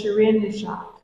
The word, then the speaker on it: Shirin Neshat: I want to make sure her name is Shireen Nishad. Yes. Is that correct? Yeah. Yeah. And how do you pronounce where she was born?